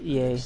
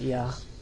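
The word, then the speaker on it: Iä: It'd be pronounced EA, not Ya, but so that his body and yours may be one.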